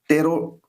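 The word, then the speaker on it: tarot: होता है गाजर, और टेरो, टेरो इसमें टी साइलेंट है बच्चों।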